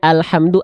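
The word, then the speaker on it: الحمد: alhamdulillahiabbilamin bagus bagus Masyaallah tinggal di bagian a-nya alhamdu Anya bukan Al J alham ya tapi alhamdu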